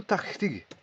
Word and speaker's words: tachtig: Voilà, qu'il faut savoir, bien sûr, encore une fois, prononcer. Tachte ou tachtig.